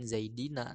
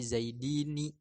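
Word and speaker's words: زيدين: sebelumnya dibaca kasroh zaidi, yang setelah ya nunnya dibaca fathah zaidina. Ini yang umum begitu. Tapi ada juga beberapa orang yang membaca jamak mudzakkar salim itu nunnya dibaca kasroh sehingga tidak diucapkan zaidina tapi zaidini.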